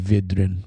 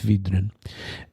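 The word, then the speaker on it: Vydrin: If I pronounce that correctly, it could be Vidrin, but I'm pretty sure it's Vidrin.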